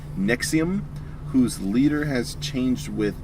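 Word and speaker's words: NXIVM: participation in Jesus Christ Nixon Nixon the creepy self group pronounced nexium whose leader has changed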